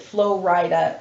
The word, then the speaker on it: Flo Rida: names, I realized that Flo Rida is Florida. Is Florida? And he's from Florida. Realized? I thought it was like Flo Rida, like he's like a Rida, I don't know.